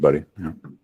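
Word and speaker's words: Budde: the bishop Marian buddy I've seen people pronounce that buddy she pronounces it buddy yeah all right there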